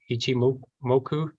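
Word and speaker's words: Ichimoku: then here is the you know how to pronounce this Ichi moku Ichi moku Kinko AI equilibrium analysis that was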